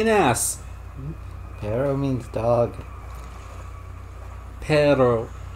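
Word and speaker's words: perro: Paro. If you roll the R's, it means dog. Pero, just pronounced like that, means butt.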